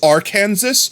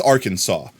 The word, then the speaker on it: Arkansas: Okay, so this are Kansas. No, that's Arkansas. What do you mean it's our Kansas? No, it's Arkansas.